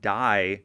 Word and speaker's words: Thai: I'm talking about in the southern part of Eunon province where the D people it's spelled T h ai and yes that does mean Thai and yes we're talking